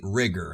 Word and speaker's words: Rigor: so that works but overall this is indeed rigor and that's how you pronounce it according to the creator now I